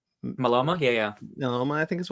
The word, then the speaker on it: myeloma: He passed away at the age of 65 due to multiple melanoma. Myeloma? Yeah. Melanoma, I think is what I can't really pronounce Melanoma?